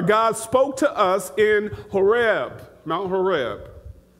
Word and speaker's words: Horeb: spoke to us in Horeb, Mount Horeb. Some pronounce it Oreb.